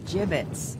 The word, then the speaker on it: gibbets: look favorite had some gibbots left over gibbets what it's pronounced gibbets are you sure yes game capture card